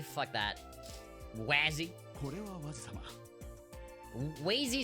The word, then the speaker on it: Wazy: It's pronounced Wazy? Fuck that. Wazzy?